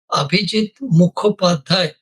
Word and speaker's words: Abhijit Mukhopadhyay: insist whenever I speak please pronounce my name properly. Abijit mohai no shortcut and always the conference